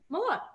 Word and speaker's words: Malott: Malott. Okay, good. Now I'm happy. Right. I just don't like mispronouncing things.